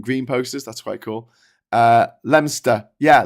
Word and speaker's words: Leominster: Leominster. Yeah, Leominster.